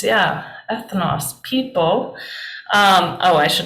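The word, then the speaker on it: ἔθνος: of the Bible but first just try to pronounce it what is this Faith knows people right ethanos yeah ethnos people um oh I should have had you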